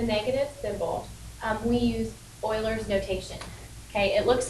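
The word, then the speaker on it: Euler: So, in order to get rid of the negative symbol, um we use Oilers's notation. Okay, it looks like Uler's um e u l e r, but it's pronounced oiler.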